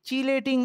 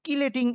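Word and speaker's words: chelating: বা লিগ্যান্ডগুলোকে আমরা বলি চিলেটিং এজেন্ট, চিলেটিং এজেন্ট। কোথাও কোথাও এটা CH দিয়ে লেখা, তো কোথাও কোথাও এটাকে কিলেটিং এভাবেও বানান লিখতে পারে, তবে বানা ইয়া সঠিক উচ্চারণটা চিলেটিং এজেন্ট বলে, যারা এভাবে আটকে ফেলতে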